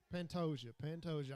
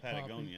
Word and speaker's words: Pantoja: Pantoja. I need to get it right. He's earned it. He's obviously not the better fighter, but he's It more ain't Patagonia, poppy.